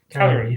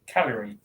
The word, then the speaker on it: Cagliari: How do you pronounce that? Cagliari. That's it. Cagliari.